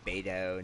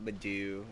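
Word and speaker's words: Beidou: up you say her name beto not badou we're get we're going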